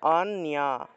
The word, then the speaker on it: অন্য: অন্না থাকলে উচ্চারণটা হবে অন্যা, অন, তারপরে ইয়া, অন্যা, অন্যা, এইভাবে উচ্চারণটা হবে।